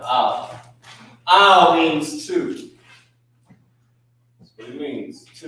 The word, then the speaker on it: Al: This is how you pronounce it. A-H-L, Al.